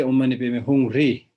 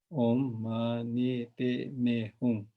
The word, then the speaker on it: Om Mani Padme Hum: And some people say Om Mani Padme Hum Re. 3 is, I don't know when this 3 came in, but if you put 3, then it is not 6-syllable mantra, it's 7-syllable mantra. So normally we say 6-syllable mantra.